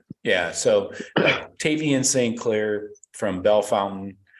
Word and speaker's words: Bellefontaine: ring always yeah yeah so Tavian Sinclair from Bellefontaine not pronounced belfontaine as I've been corrected and then uh Ryan